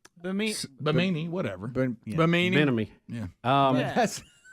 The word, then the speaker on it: Bimini: found a universal replacement Benemy. No. Oh, Bimini. Is that how you say it? Bimini? It's like bikini, from what I could find here.